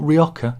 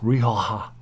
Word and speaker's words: Rioja: Noir Pinot Noir huh we are not ryoka it's Rioja solving your blood not blank